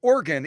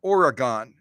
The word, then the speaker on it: Oregon: play the Oregon okay so organ it's two syllables organ it's not Oregon Oregon okay I'll get it